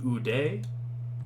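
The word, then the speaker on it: οὐδέ: U, just like in soup, so this would be ude. U, you pronounce the diphthong, and de, it just means neither.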